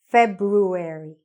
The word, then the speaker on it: February: Airy, ruary, February. Okay? This is actually a word that's mispronounced by lots of students because they sometimes say February.